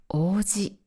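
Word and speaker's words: 王子: 漢字は Prince の王子と一緒ですが、ピッチアクセントが違います。地名の場合は王子と上がります。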